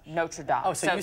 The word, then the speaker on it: Notre Dame: And Notre Dame may be okay for the Fighting Irish, but the French church that partially burned down is pronounced Notre Dame.